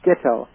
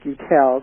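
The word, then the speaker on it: Guettel: And Adam, I understand his name is pronounced Gittel. I always used to pronounce it Guttel, the way it's spelled.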